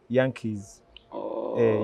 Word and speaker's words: Yanke: nti Americans are called Yankees. Yankees over even football team yabwe agita Yankees, yeah. But the true pronunciation is Yankee, single E, not double E.